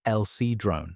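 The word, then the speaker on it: El Sidrón: Hardened plaque from El Cedron, pronounced El Cedrone in northern Spain, preserved DNA from pine nuts, moss, and mushrooms.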